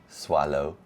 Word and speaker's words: Soileau: So swallow. Swallow. Mhm. Really? We both have crazy last names spelling wise. Okay. But yes, it's French. It's um Cajun French.